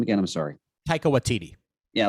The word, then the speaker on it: Taika Waititi: it off, because I like how do you pronounce the director's last name again? I'm sorry. Taika Waititi.